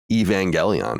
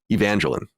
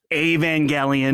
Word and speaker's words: Evangelion: Stand media wearing his Evangelion shirt or as I would call when I was a kid Evangeline Evangeline yeah I had no idea how to say it no idea none there's